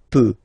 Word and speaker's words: peux: as usual, so je peux, okay? Final x not pronounced here, okay? So you get x, but you don't pronounce it, so basically you get the sound peut, je peux, okay?